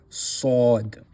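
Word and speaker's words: صاد: So there's more of a a circular motion with the lips when saying sod and seen is an empty sound.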